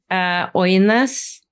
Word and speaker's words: Ønæs: Ønæs.